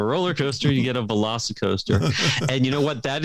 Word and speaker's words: VelociCoaster: Velocicoaster? Velocicoaster. That's got to be a must-do right there. you combine a Velociraptor and a roller coaster, you get a Velocicoaster.